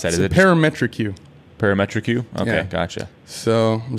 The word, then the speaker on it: ParametrEQ: The BlueCat Audio uh par how do you pronounce that? Parametric U.